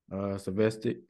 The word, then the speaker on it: Zvosec: I'm here today with a special somebody that I watched do it, grow in his profession, my deputy athletic director, Coach Rich Zvosec.